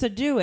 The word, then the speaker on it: Sadou: And I remember later when he corrected us, I had said both parts wrong. Yeah, I keep saying it wrong too. So I know it's not it's sh, and it's not Sadou. Because he said Sade. It's do. Yeah. So He like said Sade.